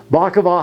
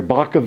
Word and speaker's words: Bacavi: works on here um bakova has electricity and that's why you're seeing the speakers and stuff like that bav I'm sorry Baka is how you say it okay I'll remember that